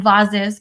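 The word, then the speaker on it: vases: price for potters and vaz's pronounced with the short and therefore expensive a sound one woman named her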